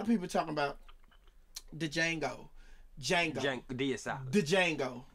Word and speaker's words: Django: i got the django because if you don't pronounce that d they not going to see you you